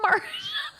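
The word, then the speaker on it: Marsha: That's Marcia. No, M-A-R-S-H-A is how I know Marcia.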